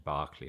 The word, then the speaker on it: Berkeley: It's written Berkeley, but the pronunciation is Barkley like Barkley card.